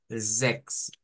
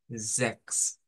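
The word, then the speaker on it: sechs: Entonces, la pronunciación de esta palabra es Zex, Zex, Zex. Y suena, de hecho, es homófona a la palabra sex, que vendría siendo para referirse al sexo de una persona.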